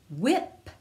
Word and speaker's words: whip: the wh words now w h sounds like w like wha and the h is silent echo these words after me wham whip good job now echo